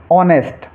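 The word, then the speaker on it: honest: silent रखना है तो नियम है हमारा अगर कोई शब्द एच से शुरू हो अगर कोई शब्द एच से शुरू हो और उसके बाद में ओ हो तो एच को साइलेंट रखेंगे जैसे ऑनेस्ट ऑनेस्ट एच से शुरू हो रहा है एच के बाद में ओ है तो इसको हम ऑनेस्ट पढ़ेंगे नेस्ट नहीं पढ़ना है ऑनेस्ट पढ़ना है कुछ बच्चे इसको नेस्ट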